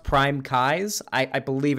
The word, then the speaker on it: PrimeCayes: than what dylan does it's it's kai's like eyeballs oh it's it's actually prime kai's okay all right um well